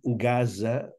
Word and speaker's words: Gaza: I, naturalment, Gaza, la Z sempre, ja ho sabeu, sempre en valencià és sonora. Per tant, hem de dir Franja de Gaza.